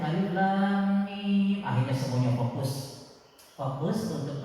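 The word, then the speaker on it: الم: alif lam dengan mim itu kan umumnya alam taro alam Nasr itu dibacanya selalu alam tapi Rasul langsung menyebutnya Alif Lam Mim akhirnya semuanya fokus fokus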